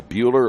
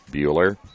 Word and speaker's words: Bueller: I noticed in the pronunciation guide from Concordia, they say Bueller like Ferris. Bueller.